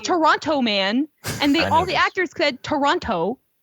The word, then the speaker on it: Toronto: Toronto. Yeah. No. It's not Toronto. Toronto. Toronto is a dirty word. Did you see Toronto Man? Toronto Man.